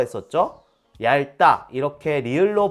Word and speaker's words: 얇다: 갑자기 이렇게 물어보니까 모르겠죠 셋다 리을로 발음합니다 얇다 왜골 핥다 얇다 외고